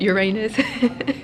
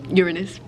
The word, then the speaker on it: Uranus: and one student just asked, is that planet pronounced Uranus? And I can see the vice principal have a little grin on his face. And I'm just like, nope, Uranus.